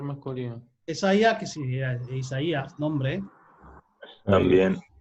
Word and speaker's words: Isaías: acento la ain entonces una diálisis es decir que hace que hace efectivamente que esta palabra se pronuncie isaías no cesa ya ok mis heridas se